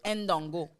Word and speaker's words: Ndongo: Ndongo. Oui. Ah, OK? Et elle l'a bien dit, elle l'a bien prononcé. Mais genre, ça prend même pas un gros accent, mais oui, c'est Ndongo.